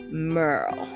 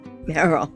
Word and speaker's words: Meryl: I lived in Louisiana for quite a few years, and they pronounced my name Merle, and I hated it. Oh yeah, I said my name is Meryl, like Merle Haggard. Like, no, Meryl, like Meryl Streep.